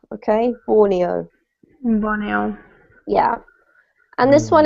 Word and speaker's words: Borneo: We pronounce the country in English Borneo, okay? Borneo.